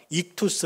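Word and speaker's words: ΙΧΘΥΣ: 그런데 이 5개의 알파벳으로 모여있는 이 헬라어를 어떻게 읽냐면 익투스 이렇게 읽어요.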